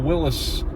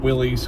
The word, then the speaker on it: Willys: The only exception, it doesn't have that little Willis Jeep in the corner. And yes, I said Willis and not Willys, because it's properly pronounced Willis.